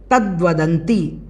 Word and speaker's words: तद्वदन्ति: उसके बाद हम देखें तद्वदंती, तद्वदंती, इस प्रकार से इसको बोलना है, दा में वा जुड़ा हुआ है।